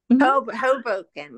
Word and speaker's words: Hoboken: Hoboken, yeah.